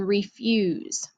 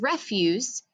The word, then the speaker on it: refuse: the city dump so these two words even though they're spelled the same they are pronounced differently the next one is